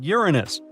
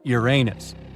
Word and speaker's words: Uranus: as Illinois well well we've been miscalling Uranus all this time actually astronomers say we should be pronouncing it like Uranus not Uranus I can't say a different stress changes much though however things could have